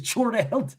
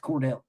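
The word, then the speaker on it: Chordale: That nigga's name is Chordell, dog. But Nick is right, though. His name is pronounced Cordell.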